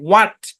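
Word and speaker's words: what: উদাহরণটা কি যেমন দেখেন ডব্লিউ এইচ এ টি উচ্চারণ কি এইচ টা সাইলেন্ট হোয়াট হোয়াট মানে হচ্ছে কি হোয়াট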